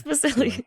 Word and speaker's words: Vasili: They couldn't pronounce Vasili Key, but they couldn't pronounce Vasili.